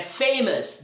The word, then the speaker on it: famous: é famous, dangerous, cautious. Então, toda a palavra que terminei o U vai ser pronunciada como us.